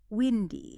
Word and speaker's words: windy: But in this case, it's a short vowel sound. It rhymes with pin or spin. Windy. It's really windy. Listeners, try that right now. Just whisper it. Windy. Not windy.